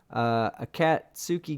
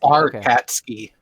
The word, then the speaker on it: Arkatski: And it's pronounced at Katsuki. At Katsuki. Arkatski. Oh, Arkatski. Okay, Arkatski gang.